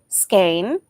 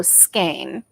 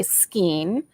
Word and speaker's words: skein: out the word and it said the u.s pronunciation is skein and the uk pronunciation is also skein according to google and that's the way i've always said it so i am i am um sticking with skein at first it used to bug me um